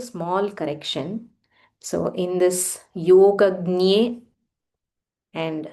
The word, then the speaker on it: योगज्ञे: So in this Yogagnye and Sarvagnye, so I was researching about this exact pronunciation of this letter. It is actually J plus Nya combined.